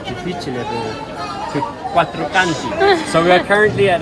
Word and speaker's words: Quattro Canti: Quattro Conti o quattro, quattro Conti? Quattro Canti. Quattro Canti.